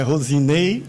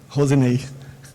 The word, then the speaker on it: Roseney: É Rosinei, mas na verdade, Rosinei que se escreve R-O-S-E-N-E-Y. Rosinei.